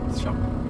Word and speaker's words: Siop: Shop. Oh, it's just pronounced shop.